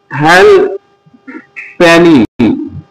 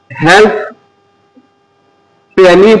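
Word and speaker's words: halfpenny: যেমন হেল প্যানি। এটি হচ্ছে একটি ব্রিটিশ কয়েন। এটা হেলপ প্যানি পড়া যাবে না। এখানে অপটা সাইলেন্ট করতে হবে।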